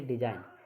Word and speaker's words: design: क्या है, एन से पहले अगर जी आ जाए हमेशा तो हमेशा वो साइलेंट ही होता है जी, ठीक है। जैसे डिजाइन, DESIGN, यानी कि डिजाइन।